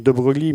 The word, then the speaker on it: de Broglie: Donc ce nom, ça s'écrit de Broglie, mais ça se prononce de Broglie.